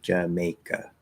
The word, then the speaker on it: Jamaica: So it's May, Jamaica. So there's 2 schwas, J-ka, and then May in the middle, Jamaica.